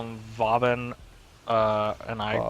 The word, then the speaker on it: Vauban: How did you just pronounce his name? Vauban. I don't call him Boobin Prime.